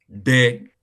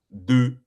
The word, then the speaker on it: des: Not de. Des. Like you say, let's say De. you want to pronounce Desmond. Say you want to pronounce Desmond. Desmond. Desmond. You say De. Des. You not say Desmond. You say Desmond. No.